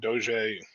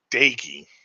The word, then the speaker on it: Doege: Jarrett Doege, or sorry, Dagey. Doege. It somehow is Dagey.